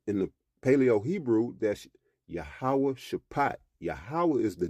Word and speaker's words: Jehoshaphat: to the valley of yahawah shapat now you'll read Jehosaphat all right but I pronounced it in the Paleo Hebrew all right so it